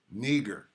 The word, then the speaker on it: Niger: Niger. That's how you say it.